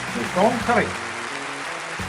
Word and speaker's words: Maison Carrée: I'm going to try to pronounce it in French. Maison Carrée. Maison Carrée.